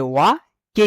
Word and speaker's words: wake: ওয়েক আপ, ওয়েক আপ, এটা ডাব্লিউ এ ওয়া কে ই কে, ওয়াকে হবে না, ঠিক আছে, উচ্চারণ হবে ওয়েক, ওয়েক আপ, ইউপি আপ, ঠিক আছে।